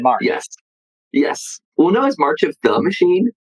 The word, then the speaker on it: March of the Machine: yes yes Uno is March of the machine the amount of times I've heard it mispronounced as March of machines but it is oh